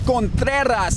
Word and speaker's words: Contreras: this time it's josh contreras if you're not rolling the r you're saying it wrong jeff there you go